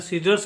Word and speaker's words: scissors: इस प्रकार से नेक्स्ट देखिए SCISSORS का उच्चारण होता है सीजर्स, इसका उच्चारण करते हैं सीजर्स, और सीजर्स का मतलब होता है कैंची।